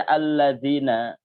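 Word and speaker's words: الَّذِينَ: asyik kalau beda pengucapannya Jadi kalau dibaca alladziina alladziina seharusnya alladziina dibaca alladziina pakai Zain maka menjadikan al-fatihah atau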